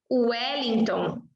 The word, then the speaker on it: Wellington: Aqui a gente está pronunciando como se fosse o Wellington, Washington.